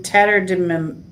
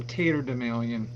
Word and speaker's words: tatterdemalion: Let's do Tetterdemalion. It's actually pronounced Tatterdemalion.